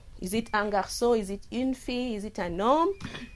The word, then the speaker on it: un: When we say un garçon, we don't have the e, so we pronounce it as un.